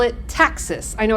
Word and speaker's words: taxis: So when bacteria move, we call it taxis. I know it's spelled taxis, but we pronounce it taxis.